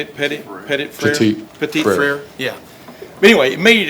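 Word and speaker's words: Petit-Frere: Petit Frere.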